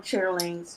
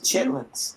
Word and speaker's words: chitterlings: throwing the part away don't call them chitterlings chitlins thank you say it say it